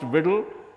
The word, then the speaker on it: WDL: It's pronounced WDL and it stands for Workflow Description Language.